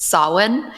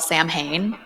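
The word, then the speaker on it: Samhain: The great it's the great pumpkin Sam Winchester because well number one they mispronounced Sawin and they call it Sam Hayne.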